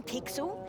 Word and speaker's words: Pixel: name's not weird I'm pixel it's easy to remember because it rhymes with pickle so it does I'm